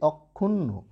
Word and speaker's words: অক্ষুণ্ণ: তাই দেখো সংবৃত উচ্চারণ, তাই বলছি অক্ষুণ্ণ।